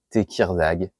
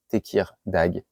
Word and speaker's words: Tekirdağ: Alors la ville, je suis pas un pro de la prononciation turque, c'est Tekirdağ. Tekirdağ.